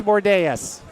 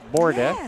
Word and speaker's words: Bordea: Bordeas.